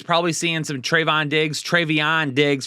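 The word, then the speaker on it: Trevon Diggs: seeing some Trayvon Diggs trayvion digs for those of you out there that thought I was mispronouncing it last video which I wasn't uh AJ Brown digs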